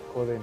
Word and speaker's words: Gödel: Y justamente este señor, que se llama, bueno, se escribe Godel, Gödel, Joden, ok.